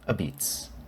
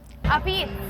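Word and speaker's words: apizza: But here in New Haven, Connecticut, the pizza capital of America, they call it a-beetz. A-beetz.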